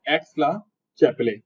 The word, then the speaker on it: Aix-la-Chapelle: एक्स-ला-चैपेल की ट्रीटी बोलते हैं इसको, संधि, संधि मतलब लड़ाई के बाद होने वाली दोस्ती, उसे बोलते हैं ट्रीटी। तो ये नाम ध्यान रखना है, एक्स-ला-चैपेले, चैपले नहीं होता, चैपले होता है वैसे वो,